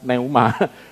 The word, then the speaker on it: pneuma: The Flash masa 23 Neha tulisannya pneuma itu bacanya nggak ngerti bacanya Neymar itu artinya angin juga